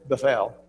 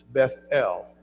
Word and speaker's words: Bethel: So you don't say Bethel or Bethel, we would say it, but it's Bethel. The emphasis on both of them. The importance, the point this article is making, the importance of both syllables of the name there, because it is the house of God.